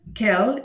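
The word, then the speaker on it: quel: you heard me perfectly we pronounce it exactly the same way kel only in the written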